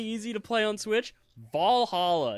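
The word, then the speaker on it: VA-11 Hall-A: game that's really easy to play on switch Valhalla it's a really cool game has a banging soundtrack I thought you're gonna say Persona 5 Royal Oak Valhalla that's not how it's spelled it is spelled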